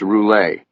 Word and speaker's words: Roulet: Okay, so we're here to talk about Louisis Roulette, aren't we? It's pronounced Roule. Roule?